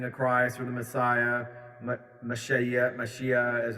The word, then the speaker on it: Mashiach: the second coming of Christ, or the Messiah, Mashiach, as it's pronounced here, and going beyond the whole, the